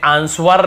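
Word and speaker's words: answer: बाद यदि डब्लू है एस के बाद डब्लू है तो सेंट होता है जैसे आंसर हमें आंसर नहीं पढ़ते वर नहीं पढ़ते आंसर बस आंसर जवाब फिर देखिए सर्ड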